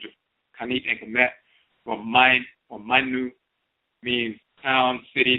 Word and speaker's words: Mayn: As we have shown in our Odwiraman publication, the term spelled here, mine, and we spell it M-A-Y-N, mine, but it's just a variation of a spelling.